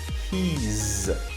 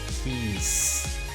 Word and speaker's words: he's: And when you are using he or she, you have to make sure the pronunciation of is like he's, not he's. The pronunciation has to be z, not s.